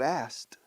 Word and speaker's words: asked: You asked, preguntaste. Fíjate cómo lo pronuncio. You asked. La K como si no estuviera.